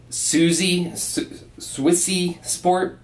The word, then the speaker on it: Suisse Sport: So first and foremost, this is the, I can't pronounce this very well. It's spelled S-U-I-S-S-E. I'll put it down in the description section for you guys to be able to see it, how it's spelled. But it's like Suisse Sport, I think.